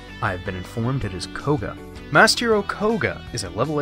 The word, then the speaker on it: Koga: little more than some minor turbulence masked hero kuga uh it's pronounced koga have been informed it is koga master okoga is a level 8 light monster